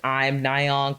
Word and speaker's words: Im Nayeon: the M, it says I'm Nayeon, but it also a play on word of her name, Im Nayeon, if you pronounce it in Korean.